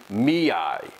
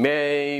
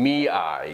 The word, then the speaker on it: Mei: eye i kept saying i kept wondering if it was melting may melting mia it's melting me eye because the name of the character is spelled m-e-i-me-i long story short the